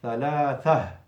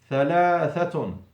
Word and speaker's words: ثلاثة: Now comes the rule of the ta al-marbut at the end of the sentence. It becomes a ha. ثلاثة. Don't say ثلاثة. Now you have made the tha the last letter. We need the ha, because the ta becomes ha in pronunciation, not in writing.